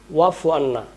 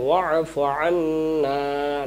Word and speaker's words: واعف عنا: এই যে ওয়াফু আন্না, না টান দিতে হবে, না টান দিতে না দিতে পারলে কিন্তু উচ্চারণ ভুল হবে এবং শব্দেরও ভুল হয়ে যাবে কিন্তু।